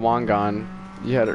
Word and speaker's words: Wangan: It's called Wangan.